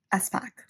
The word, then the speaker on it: Espach: It's apparently Allison Espach.